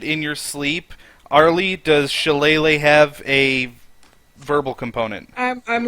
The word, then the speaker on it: shillelagh: Arlie, are you saying you want to shillelagh your quarterstaff? Yeah. Shelaga?